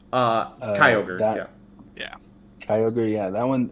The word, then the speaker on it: Kyogre: And that one's actually similar to the, how do you pronounce it, Kyogre? Kyogre, Yeah.